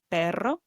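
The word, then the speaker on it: perro: Okay, place the tip of your tongue on the roof of your mouth just behind your upper front teeth. Okay. Then inhale some air and then exhale gently through your throat. Make the tongue vibrate while doing that.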